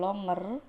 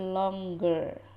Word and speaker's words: longer: yang artinya lebih panjang jadi ini membacanya bukan longer tetapi longger seolah-olah ada huruf q lagi satu gitu ya Jadi bukan longer tapi longger Hai Oke sampai di